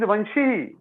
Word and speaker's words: वंशी: It is not vamshi. It is vanshi.